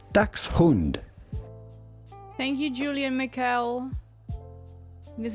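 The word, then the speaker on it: Dachshund: It's the same in English as Yeah, it's German. Yeah, the people saying Dashhound are American who don't know anything.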